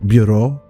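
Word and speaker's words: Burot: question's name is edith bureau um she catches flack for her last name because it's spelled b-u-r-o-t and pronounced like bureau and people tend to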